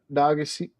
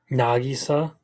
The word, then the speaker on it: Nagisa: Um, oh, it was uh someone said that uh Nagasi Naga Nagasi, how do you say the dude's name from Assassination Classroom? Naga. Nagisa.